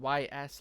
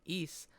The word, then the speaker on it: Ys: album East that's right it is pronounced East not Ys like I thought and not wise like I thought instead it's pronounced East like the uh forgotten